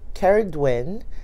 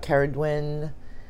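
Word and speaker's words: Cerridwen: going to start off with, sorry, is my Caridwin. And if you don't know who Caridwin is, and her name is spelled all different ways, but I personally spell her name as C-E-R-R-I-D-W-E-N.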